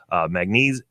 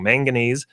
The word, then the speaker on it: manganese: some copper in there mag knees manganese and almost said it wrong manganese phosphorus potassium zinc some